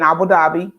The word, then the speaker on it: Abu Dhabi: But I ended my teaching career in the Middle East in Abu Dhabi.